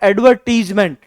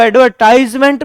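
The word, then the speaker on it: advertisement: ना, पूरा नाम है एडवर्टीजमेंट। हम उसको एडवर्टाइजमेंट भी बोल देते हैं, पर शुद्ध उच्चारण है एडवर्टीजमेंट।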